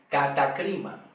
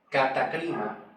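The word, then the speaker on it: κατάκριμα: Pero la pronunciación se pronuncia catacrima, que es muy diferente la pronunciación según la escritura original, cómo se escribe.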